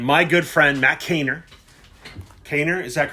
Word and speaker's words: Kaner: Kaner, is that correct?